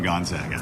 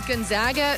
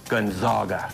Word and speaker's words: Gonzaga: basketball plus y is Gonzaga so hard to pronounce what's not disputed is Olga it's never guns Olga special lesson from our